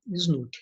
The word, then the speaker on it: SNUC: Vocês podem observar aqui pela imagem, que é simplesmente SNUC, né, que a gente vai pronunciar. Está aqui embaixo, ó, SNUC.